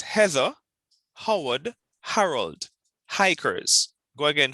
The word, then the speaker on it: Heather: Heather, Howard, and Fred. Heather. Okay. Heather. No, it's not. ER is pronounced like doctor. Oh, okay. It's a schwa.